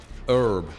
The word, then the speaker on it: herb: Herb. They miss the H and just say herb.